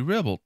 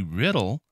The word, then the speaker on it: Riddle: did attack state representative Debbie Ribble blah Ribble I mispronounced her name and I apologize Debbie riddle who requested a bill